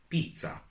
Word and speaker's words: pizza: And this one is also a little bit tricky because it can be pronounced both as z and t, z, z, and t. For example, zaino, zaino, which is a backpack, or pizza, pizza, which is pizza. And there are no certain rules about the pronunciation of this letter, so you will have to learn it on the go.